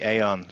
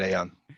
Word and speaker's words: Aodhán: Aodhán Ó Ríordáin, welcome to the podcast. Hi, how's it going? You're gonna have to call me Aon, like crayon or spray on.